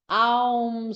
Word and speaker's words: Aum: If we pronounce Aum slowly, we open the mouth wide with the ah sound, gradually closing the mouth to produce the u sound, and finally closing it with the sound Aum is said to embrace the